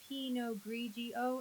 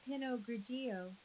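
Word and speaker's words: Pinot Grigio: It's pog grigio. Emily, not pinogio.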